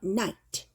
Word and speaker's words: night: 때 느 I 하고 얘가 소리가 안나요 그래서 night 이렇게 돼요 그다음에음 우리가 도표나 이런 거 gra